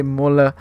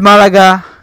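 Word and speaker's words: Málaga: more Malaga right but I want to say molar no man is it's Malaga somehow can't pronounce names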